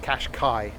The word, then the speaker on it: Qashqai: Yeah, it's pronounced Qashqai.